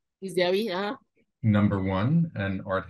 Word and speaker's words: Giziawi: And she curated, and I hope I'll pronounce this correctly, Giziawi, is that correct? Giziawi, yeah.